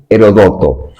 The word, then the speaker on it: Heródoto: Bienvenidos a tu genio digital en tu programa Ecosist, cuyo símbolo para nosotros es el padre de la historia, Heródoto. Hay quien hay quien lo pronuncian Herodoto, porque a partir de él surge precisamente aquellos que van recopilando los hechos de su tiempo.